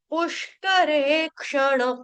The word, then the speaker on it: पुष्करेक्षण: वाक्यया बुध मनोग्यया पुष्करेक्षण पुष्करेक्षण क्ष जो है वो क्षत्रिय का है पु ये जो श है ये षट्कोण का आधा वाला उसके बाद करे रे दीर्घ क्ष जो ये वाला आप देख रहे हो क्ष ये कौन सा है क्षत्रिय वाला क्षण वाला क्षण ण कौन सा है बाण का ठीक है विधि वि ह्रस्व